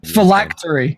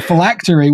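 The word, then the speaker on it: phylactery: Um, usually felactory. Yeah. No, I can't remember what it means. Oh. Oh, he's looking it up. and a felactory which is spelled p h y l a c t e r y.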